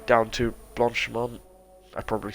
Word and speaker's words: Blanchemont: Now going through sector 3 down to Blanchemont.